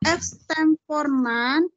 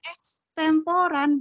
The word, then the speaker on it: ekstemporan: metode tanpa persiapan atau exemporan kemudian ada a bacanya Yang betul ex Poran kemud ada emporan iya ekstemporan pakode membaca naskah dan